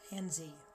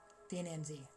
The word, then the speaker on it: Ananzi: Let us see the nis or the the anzi ananzi. Um ananzi there. I was just saying it wrong.